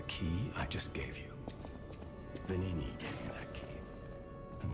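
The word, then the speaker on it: Venigni: So, I probably shouldn't complain, but the fact that the G is silent and I kept trying to pronounce the G is messed with me.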